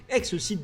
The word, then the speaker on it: XCeed: catalogue qui a dù son nom prononcé ex-site normalement ce qui signifie dépasser les attentes des clients commençons par le style